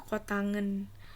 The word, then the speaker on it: kotangen: udah lanjut Hai hot ini bacanya kotangen kotangen Alfa = B